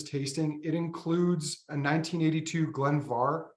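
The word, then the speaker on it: Glen Mhor: it includes a 1982 Glenvar spelled more m-h-o-r but pronounced VAR uh closed Distillery bottling we have not had a balling from Glenvar in our shop since 2011.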